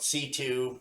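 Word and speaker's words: C.C.: from a character called c2 but it's spelled c c yeah it's spelled cc but it's always referred to as c2 yeah i just i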